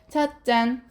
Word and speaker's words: 찻잔: 발음해 보도록 하겠습니다. 찻잔 또는 찻잔 이렇게 되는 거지. 그치? 그러면 얘들아 뒷말의 첫 소리가 지금 보니까 된 소리로 나고 있어.